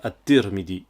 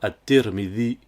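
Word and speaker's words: الترمذي: Par exemple, les gens écrivent le nom de l'imam al-Tirmidhi comme ceci et prononcent al-Tirmidhi. C'est très souvent qu'on entend des gens dire at-Tirmidhi, alors que c'est bien at-Tirmidhi. Il y a des lettres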